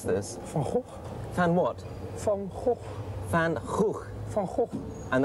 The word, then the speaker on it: Van Gogh: Excuse me, can you tell me how to pronounce this? Van Gogh. Van what? Van Gogh.